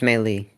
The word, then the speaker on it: melee: because it's melee.